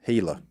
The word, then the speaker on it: Gila: then they got a what a yellow monster hela oh gila monster okay i i always said gilla okay well that's how it's spelled well i know i pronounced it like